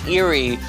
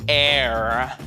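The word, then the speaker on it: Eyre: captivating romantic novel Jane Eerie is that a Jane Austin B Emily Bronte C Charlotte Bronte or D Charles Dickens I pronounce that right Jane air Jane air my bad all right the brilliant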